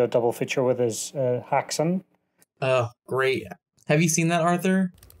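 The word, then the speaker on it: Häxan: double feature with is Haxan. Oh, great. Have you seen that, Arthur? I haven't. I'm trying to look it up right now. How do you spell it? Haxan. Hacks on, hacks off.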